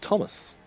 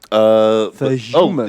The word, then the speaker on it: Thumas: Pronunciation is Thomas. Ah. Fuck. Thumas. It's Thomas but silly. Your mouth narrow.